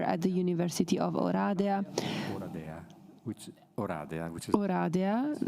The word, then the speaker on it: Oradea: Oradea, the right pronunciation, in Romania, at the Faculty of History and International Relations, Political Science.